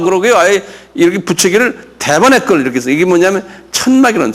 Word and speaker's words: Tabernacle: 똑같이 Tabernacle 이렇게 액센트가 타에 있어요.